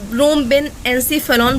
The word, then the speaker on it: rhombencephalon: तो hind brain को हम लोग रोहेम्बेन्सीफेलॉन बोलते हैं, स्पेलिंग नोट कर सकते हो, RHOMBENCEPHALON, रोम्बेन्सीफेलॉन बोलते हैं।